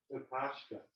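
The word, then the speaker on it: Kokoschka: How do you pronounce it? Oscar. Kakashka.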